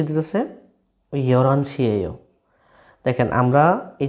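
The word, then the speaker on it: 열한: আচ্ছা ইয়ল হান উচ্চারণ হবে না, হ্যাঁ মনে রাখবেন। রিউলের পরে যদি হিউত থাকে, রিউলের পরে যদি হিউত থাকে তাহলে এই হিউতটা সাইলেন্ট হয়ে যায়, তখন এই রিউলটা উপরে চলে যায়।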